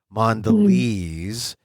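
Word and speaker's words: Mondelēz: the you know the the mark over the E so you know it's a long e mandes lez mandes they they're the company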